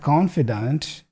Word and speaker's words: confidant: I love the nuance in pronunciation because we have confidant and also confidence, right? So the vowel there in the middle is really... There's a small difference there in pronunciation, but it's different. Confidant and confidence.